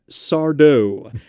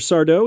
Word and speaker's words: Sardo: and his catchphrase was people would say oh mr sardo he was like no mr accent on the dough stupid so real dumb